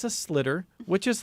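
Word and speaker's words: sliotar: Somebody who's Irish explained to me how the word is slitter, S-L.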